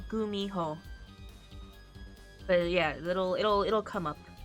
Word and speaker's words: Gumiho: Gumiho. No, thank you, autocorrect. There's two ways to spell it. Either with a G or a K. Phonetically, it's the same thing. There's an H in there too. Gumiho.